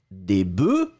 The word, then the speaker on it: bœufs: mais quand vous le mettez au pluriel, la prononciation change radicalement. Le F n'est pas prononcé, et vous allez le prononcer comme un E.